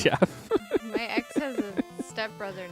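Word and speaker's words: Geoff: it's G EO FF that's how you say Jeff that's not how I say Jeff but that's how the French spell it g e o f pronounced GI off no it's Jeff my ex has a stepbrother named Jeff then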